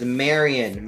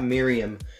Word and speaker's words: Marion: fans out there but her name is marion marion ravenwood not miriam there's a dif there's a big difference in how you pronounce those so i don't creeper has